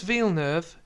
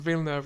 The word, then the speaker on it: Villeneuve: I'm pronouncing Villeneuve wrong. I think it's Denis Villeneuve. Villeneuve. Yes, or Villeneuve.